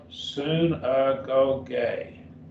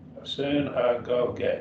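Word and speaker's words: συναγωγή: Synagogue. Synagogue. Synagogue. Synagogue.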